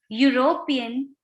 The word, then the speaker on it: European: we don't use uh some words like university union european unicorn useful begin with a consonant sound that of you why you so we